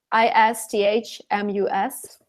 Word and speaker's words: isthmus: a very specific thing so the pronunciation is just isthmus there's no CH because that's one thing